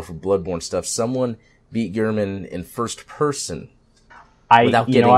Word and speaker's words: Gehrman: She fought Gehrman is how you pronounce it.